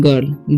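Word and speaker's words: girl: क्या लिखा हुआ है गर्ल गिल नहीं गर्ल पढ़ते हैं इसे हम आप लोग गर्ल गिल नहीं पढ़ेगा ठीक यहां पे लिखा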